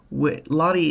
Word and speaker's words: Lotte: Lottie is a big brand here, and it's spelled Lotte.